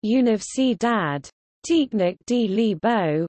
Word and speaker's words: Universidade Técnica de Lisboa: The Technical University of Lisbon, UTL, Portuguese, Universidade Técnica de Lisboa, pronounced, Universidade Técnica de Lisboa, was a Portuguese public university.